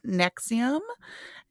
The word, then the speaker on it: NXIVM: And on today's episode, Ashley's going to be talking about the cult NXIVM. And I hope I pronounced that correctly.